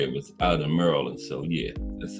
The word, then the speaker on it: Maryland: Everybody say Maryland, but that's what it was. Maryland. That's how it's supposed to be pronounced.